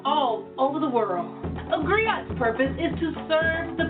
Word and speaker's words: griot: share the history with you agree oh it's pronounced griot or in English agree on the West African